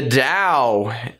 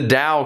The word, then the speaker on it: Tao: or Dow a chain you can spell it with a D or a T in English it's a little bit more common at times with a D because that's the way that we sound it out anyway that's not ultimately